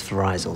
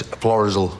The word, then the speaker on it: Florizel: I thought the pronunciation was Florizel, sorry. No, it's Florizel Street.